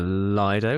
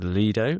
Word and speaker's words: Lido: We went to something called the Lido, which I've learned is now pronounced Leido, which is this very